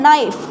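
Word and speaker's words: knife: इस नहीं बोलना सीधा नाइस बोलना है नैनो नाइफ़ ठीक है चलिए यह किसकी हो गई आपको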